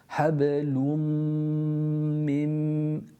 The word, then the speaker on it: حبل من: Hablum mim. There's consistency in terms of length. Hablum mim. Pronounced from the meme and then going on to another meme.